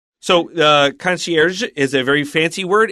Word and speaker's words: concierge: Okay, I said it with an American pronunciation. In real French, it's more like concierge. Conc, but we say concier in English.